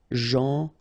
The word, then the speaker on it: gentil: So it's a strange one because here this final L is not pronounced. Okay? Gentil.